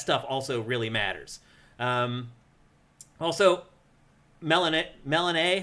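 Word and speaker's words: Melinoë: Also, Melanae, how do you say it? Melanae? Melanoe would be how I'd read that, especially with the umlaut over the E.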